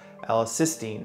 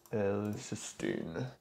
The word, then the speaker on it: L-cysteine: This is done through an amino acid called L-cysteine. I think that's how you say it. You look that up. L-cysteine.